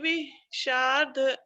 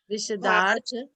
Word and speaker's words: विशदार्थ: स्वर्गा पवर्ग गम मार्ग विमार्ग गणेष्ठा, साधर्म तत्व कथने के पटुस्त्रिलोक्या दिव्य ध्वनिर्भवति ते विशार्ध सर्व विशदार्थ, विशदार्थ, विशदार्थ हाँ विशार्ध नहीं, विश दा भी है ना, तो विशदार्थ।